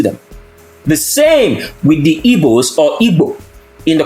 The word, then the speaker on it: Igbo: word it's just like the Igbo people which is properly pronounced in English evil never describe themselves as